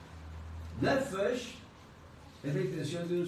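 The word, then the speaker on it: נֶפֶשׁ: Nefesh, ¿cómo se escribe nefesh? N-E-P-H-E-S-H. de nuevo. N-E-P-H-E-S-H. Nefesh. Se pronuncia Nefesh. Como si PH fuera una F.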